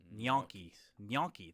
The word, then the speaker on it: gnocchi: Gnocchi.